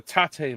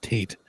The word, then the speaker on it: TATE: you think of the taté mode on the handheld? Uh it's it's fine. Nothing. Nothing spectacular. Nothing like that. So Sean, I need a grip. I believe it's pronounced Tate.